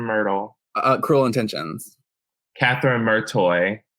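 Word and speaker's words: Merteuil: uh Cruel Intentions Catherine murtoy martoy but it has an o in it the prince yeah it's so annoying that you know that stop it okay no but they very specifically pronounce it martoy and I've never heard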